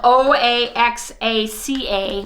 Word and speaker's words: Oaxaca: it alone and it's spelled o-a-x-a-c-a pronounced Oaxaca as all of you